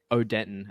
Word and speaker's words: Odenton: anuno county or odent OD Denton as the locals say OD Denton nice um